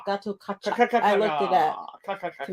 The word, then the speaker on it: Gatotkaca: It's Gatotkaca. Gatotkaca.